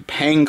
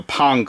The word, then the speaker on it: Pang: buster brothers collection or the pang collection or the pong collection depending on how you pronounce it um that's the